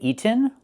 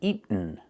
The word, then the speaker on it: eaten: You can say eaten or eaten. Make the stop t and fall to the end.